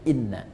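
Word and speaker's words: إنّا: ya inna ilaihi roji'un Inna pakai tahu kan bacanya pendek bukan ini tapi Inna Inna Ila robbika Roja ketawa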